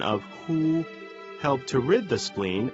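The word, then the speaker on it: 呵: the heart Meridian the pronunciation of who like The Who and the English word Hoover the pronunciation is assisted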